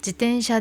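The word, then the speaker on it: 自転車: 요거 발음하실 때 자전거 조심해 주세요. 지텐샤라고 편하게 발음하지 마시고 태 발음, 지텐샤입니다. 태가 네 되지 않도록 지텐샤 발음해 주세요. 지텐샤 で危険な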